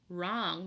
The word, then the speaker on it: wrong: sound warm begins with the sound whoa whoa wrong begins with the sound or wrong and warm